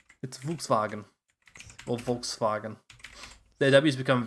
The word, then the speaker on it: Volkswagen: Volkswagen.